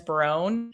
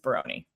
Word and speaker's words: Barone: A lot of people say the proper pronunciation is Barone. However, my grandpa is straight from Italy, and that's how he pronounces it. So it's Barone.